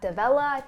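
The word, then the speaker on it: D'Avella: inspired by this video by the youtuber matt davella and that's how you pronounce his name he had a video i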